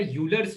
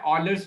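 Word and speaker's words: Euler: अब देखो, polar form से ही एक और फॉर्म होता है जिसको हम बोलते हैं ऑयलर्स फॉर्म या यूलर्स फॉर्म, ठीक है। उसको सही प्रोनाउंसिएशन उसका है ऑयलर्स फॉर्म, ठीक है।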